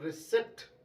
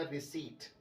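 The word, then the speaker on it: receipt: में रिसिप्ट मिलती है जबकि इस बर्ड के अंदर पी जो है वह साइलेंट लेटर है तो रिसेट नहीं होगा बल्कि ये होगा रिसिप्ट जी हान इसमें आपको पी नहीं पढ़ना बल्कि सही जो वर्ड है इसका सही जो प्रनंसीएशन है वो है सीट तो इसमें पीना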